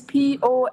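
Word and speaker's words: Poa: my name name is p o a p o a yes so how you pronounce po yeah po yeah that's my name po my name's sorry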